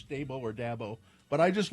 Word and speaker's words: Dabo: See, it's D A B O. So, it's either dabbo or dbo. Jimmy John says da like dad bo without the d.